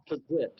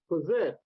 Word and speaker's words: PPFSZT!: The actual pronunciation is Pazit. The actual pronunciation from Jim Main is Pazit. Pazit with the silent F.